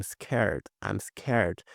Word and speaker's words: scared: I'm scared. Se fôssemos falar ele de forma inteira, ficaria I am scared. Mas desse modo aqui fica muito mais rápido, né? E aqui esse D a gente não pronuncia.